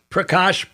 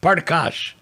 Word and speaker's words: Prakash: So Ekankar, Punjab, there's a lot of mispronunciation of Sanskrit words. Prakash, Parkash.